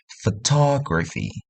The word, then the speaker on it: photography: ketiga akhir suku kata, contohnya photography. Ta itu ditekan berletak di ketiga akhir.